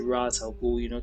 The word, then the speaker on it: Ra's al Ghul: Ra's al Ghul, which in the comics I believe is pronounced Raish, but in the films, and some other media, they actually pronounce it Ra's al Ghul.